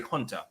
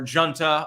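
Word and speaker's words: junta: currently ruled by a military hun um or janta again whichever way you want to pronounce it somebody's gonna have a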